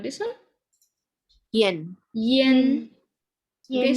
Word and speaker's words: ian: yen Yen. Okay, so when you see I, this one is more like you have a Y here. Yen.